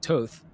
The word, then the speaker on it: Toth: But he has a challenger from the right in State Representative Steve Toth. Mm-hmm. Toth? I think I'm pronouncing that correctly.